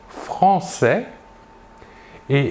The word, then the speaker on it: française: l'adjectif de nationalité sera français et la job au masculin est l'adjectif de nationalité au féminin sera française nous voyons ici la différence de prononciation nous prononçons le s final et nous ajoutons à